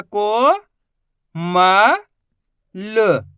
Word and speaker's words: कोमल: कि यहां पर देखो ला के अंदर कोई मात्रा नहीं है तो यहां पर आधा उच्चारण करेंगे चाहे इससे लास्ट के